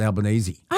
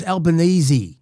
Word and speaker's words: Albanese: How come you always say Albanese and not Albanese? I don't know. Well, you do that. It's Albanesey. It's spelled like Albanese, but it's pronounced Albanesei.